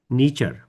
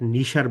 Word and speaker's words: niche: আর market নিচার উচ্চারণটা কিন্তু তখন কিন্তু মার্কেট নিশার বলবো না, তখন বলবো মার্কেট নিচার, NICHER। আর এখানে যখন বলবো নিশ বলবো নিচ না, নিশ। ওইখানে বলবো মার্কেট নিচার, এখানে বলবো নিশ।